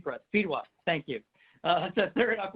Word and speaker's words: Fedewa: Pronounce your last name for us. Fedewa.